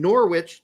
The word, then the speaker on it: Norwich: If you don't want me to pronounce the W in Norwich, then take the fucking W out, motherfuckers.